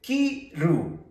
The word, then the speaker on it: kiru: Se dice kiru. Tenemos el sonido de esta. Kiru. Por lo tanto, vamos a escribir con la K.